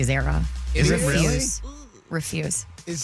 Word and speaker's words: Zara: That's just like Zara is actually Zara.